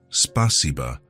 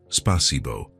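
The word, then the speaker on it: спасибо: "It's spasiba, not spasibo," he explained. "The A is softer."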